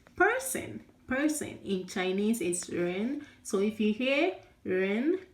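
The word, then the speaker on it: 人: Ren, ren, ren. Okay, ren means person. Person in Chinese is ren.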